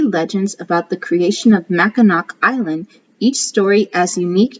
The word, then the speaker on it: Mackinac: Today, the special place we call Mackinac Island is always pronounced Mackinac.